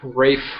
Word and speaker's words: Ralph: Pronounces it Rafe, even though there's zero. It's spelled Ralph Fiennes. He pronounces it Rafe.